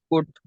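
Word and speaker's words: could: कैसे पढ़ेंगे आ नॉट इसके अंदर याद रखना है के एल से पहले यू अगर आ जाए तो फिर एल को नहीं पढ़ा जाएगा कुट पढ़ा जाएगा क्या पढ़ जाएगा कुड कुट जी कुड नहीं पढ़ा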